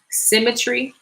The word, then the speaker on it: Simitre: And this one, it's by this brother, Symmetry. That's what his business is called. But it's spelled Simitre, the 2 E's, Symmetry, Simitre.